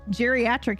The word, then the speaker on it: geriatric: man um yeah geriatric is a j sound yeah there's a lot